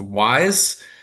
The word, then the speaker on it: WISE: Uh but the wearable intraarticular infusion system pronounced wise uh is a proprietary catheter with an infusion pump uh to really help with the delivery of this method.